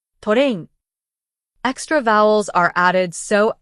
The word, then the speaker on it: トレイン: For example, club becomes kurabu, glass becomes gurasu, train becomes torein.